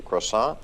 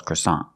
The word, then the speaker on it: croissant: a place that sells croissant. And why do we call the bread croissant? Because it's a French name, but we pronounce it a little different. We pronounce it with the American accent.